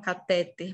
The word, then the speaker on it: cateter: enfermeiros da saúde farmacêuticos a maioria vai falar cateter cateter que é um negocinho que geralmente pessoas que têm câncer colocam né o cateter mas não é cateter é cateter cateter você já ouviram Essa